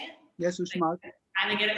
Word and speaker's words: Uxmal: Yes, Uxmal.